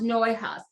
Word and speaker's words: Neuhaus: It's pronounced Neuhaus. So this is a box of Neuhaus.